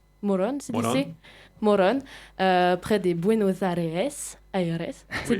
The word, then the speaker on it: Morón: Hola Christian, vous êtes né le 14 juillet 1989 à Morón, c'est dit Morón, près des Buenos Aires. C'est dit ma prononciation.